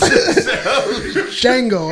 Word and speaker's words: Django: Django. Oh, okay. It's your first time seeing Django. All The right, D cool. is silent. The D is silent.